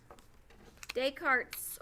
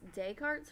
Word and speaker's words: Descartes: thing we have is de cartes a rule of sign signs up kind of looks like dick discard this rule of signs I've always heard it pronounced Descartes rule of signs I'm